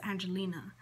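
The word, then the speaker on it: Angelynne: It's actually Angel, and then it's Y-N-N-E, Angelin.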